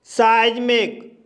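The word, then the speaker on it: seismic: साइज्मिक, साइज्मिक शब्द में ई आई आया है और इस शब्द में ई आई का उच्चारण आई होगा, इसलिए इसे साइज्मिक पढ़ा जाता है।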